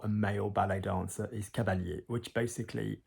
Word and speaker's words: cavalier: But again, notice the pronunciation, cavalier, cavalier.